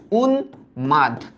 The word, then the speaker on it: উন্মাদ: এটাও আমরা জানি যে মফলা যখন মূর্ধন্য দন্তন্য ম কিংবা ল কিংবা গ, হ্যাঁ গ কিংবা উ, এই 6টা ব্যঞ্জনের সাথে যখন মফলা থাকে, তখন ময়ের উচ্চারণ বহাল থাকে, ও ফলার মতো উচ্চারিত হয় না, ও ময়ের মতো উচ্চারিত হয়। তাই এটার উচ্চারিত রূপ হবে উন মাদ, উন মাদ মানে পাগল।